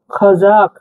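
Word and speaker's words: қазақ: নিচে টান মানে কি উচ্চারণ হবে খাজাক খাজাক এভাবে ঠিক আছে একটু জোরে বলতে হবে খাজাক মানে খাজাক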